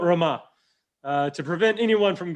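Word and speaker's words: Ramah: rama we we know this city is rama now i'm pronouncing it the old southern way sorry um so i'll get i'll correct that built roma uh to prevent anyone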